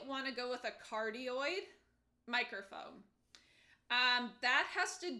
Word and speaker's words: cardioid: and cardioid. I might not be pronouncing it correctly, maybe I am, but a cardioid microphone sounds like cardio.